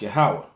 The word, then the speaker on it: Yahweh: And Yahweh said, I have surely seen the affliction. Notice it called him, when his name is spoken, when his name is spoken by someone else, it's pronounced Yahweh.